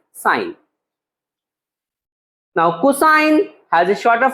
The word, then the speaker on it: sin: has a shorter form written in the sums as s i n but we will pronounce as sine now cosine has a